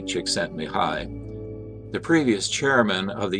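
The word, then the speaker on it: Csikszentmihalyi: code of inherent motivation mihai chiksen mihai pronounced mihai chiksentmihai the previous chairman of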